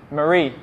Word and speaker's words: Marie: Nguyen, can you help me pronounce the name Mary? Mary. M-A-R-I-E. Mary. Marie, sorry.